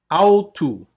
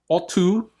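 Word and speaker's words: αὐτοῦ: Autu. Okay, make sure you don't pronounce this like an English word. It's not otu. Okay, it's autu.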